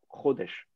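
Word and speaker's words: חודש: c'est un ses gaules et donc l'accent est sûre la première syllabe rodesch la racine trad h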